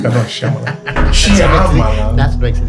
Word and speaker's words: Shyamalan: No, you don't pronounce the Y. Shyamalan. No, Shyamalan.